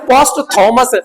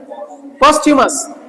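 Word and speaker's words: posthumous: खूब आपने पढ़ा होगा, लोग कहते हैं पोस्ट थॉमस, था बोलते हैं सर आपका। इसका रियल प्रोनाउंसिएशन क्या है आपका, ये देखो ये क्या है आपका, पोस्ट्यूमस। बोलो, ये था नहीं पढ़ा जाता, प्रोनाउंसिएट नहीं किया था, पोस्ट्यूमस।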